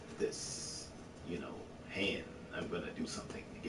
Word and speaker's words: Han: It was shit so subtle that the way that Billy D would mispronounce Han's name, he would call him Han.